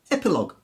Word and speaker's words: epilogue: I did there mmm-hmm words the end gue or L o gue in those cases the U is silent and it hardens the G so colleague lead tongue catalogue dialog analog and indeed epilogue so the first group